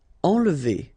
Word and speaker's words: enlever: Enlever. Okay, nasal here, en, and then don't insist on this here.